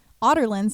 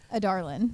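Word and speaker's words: Adarlan: So Selena is in Andovia because she is a Darlin's Otterland's assassin. I'm going to be correcting myself the entire podcast. Yeah. How did you pronounce it? Adarlin.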